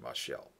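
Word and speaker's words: משל: Or mashal would actually be the better pronunciation, mashal.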